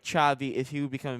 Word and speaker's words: Xavi: Xavi, I imagine that's Javi. Chavi Chavei. Chavei. Chavei. All right. Sorry, dumb dumb American over here.